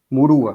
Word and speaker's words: Murua: pronunciar seu sobrenome certo é muruá ou murua que eu falo eu nunca falei sobre o nome antes apesar de se conhecer há tanto tempo é muito murua pronto ela é doula